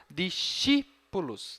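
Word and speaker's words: discipulos: a palavra discípulos né olha só tem braquia na penúltima sílaba Então essa não é a tônica tem que ser anterior discípulos discípulos discípulos certo muito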